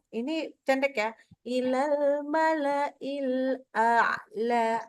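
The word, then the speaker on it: أعلى: Ilal mala'il a'la. A dulu, baru ain.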